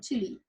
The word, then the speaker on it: Chile: We are going to Chile, not child, and not Chile, because we're doing Spanish right now and we're using Spanish accent. Yeah, so we're going to pronounce it Chile.